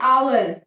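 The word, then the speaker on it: hour: जैसे आवर। आवर की spelling होती है एच ओ यू आर। लेकिन उसमें एच साइलेंट होता है।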